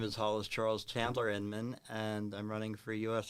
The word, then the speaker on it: Hollis Charles Chandler Inman: I will let Hollis pronounce his whole entire name because it is a long name. My name is Hollis Charles Chandler Inman, and I'm running for U.S.